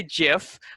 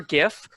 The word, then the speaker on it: GIF: uh what is a gif uh the the pronunciation let's get that out of the way um so some people say jiff uh uh like like the peanut butter um i prefer gif um i i did see that the oxford